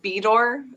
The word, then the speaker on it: Bedour: be bedok that's how so the men in our family pronounce it be door and the women in the family pronounce it fedor i don't know there